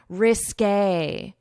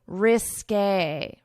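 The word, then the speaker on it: risqué: Obviously, the English alphabet does not have this accent, so we pronounce it according to French pronunciation rules, which is when you have this accent to pronounce it as A, risque, risque, risque.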